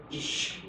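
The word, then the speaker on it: אִישׁ: Qui si legge Ish.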